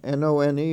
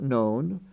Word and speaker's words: none: have none and done n-o-n-e is pronounced none not known d-o-n-e is pronounced done